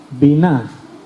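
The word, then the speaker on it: בינה: La palabra hebrea para inteligencia es biná, con B de Barcelona. Biná, acento en la A al final.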